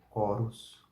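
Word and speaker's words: chorus: né tchero tchero tío o ch tem o mesmo som do k né assim esse exemplo é corus corus corus as próximas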